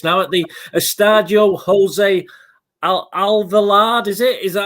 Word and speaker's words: Alvalade: You're gonna laugh at this now, at the Estadio Jose Alvalade, is it? Is that how you pronounce it, Mike? Alvalades, yes.